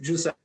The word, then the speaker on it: Giuseppe: Giuseppe, welcome to Notre Dame Day. Hi, nice to see you. Thank you for having me. Absolutely. Actually, the pronunciation is Giuseppe.